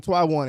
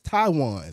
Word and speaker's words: Twiwan: been saying his name Taiwan is Taiwan Taiwan yes yeah see first the first W silent the first W is silent so we're already learning